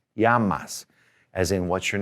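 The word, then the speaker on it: llamas: The double L sounds like Y in a sentence. So, this word right here, L L A M A S, is pronounced Yamas. Yamas, as in what's your name?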